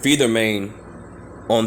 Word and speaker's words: phentermine: how you say it feed their main on their no longer banned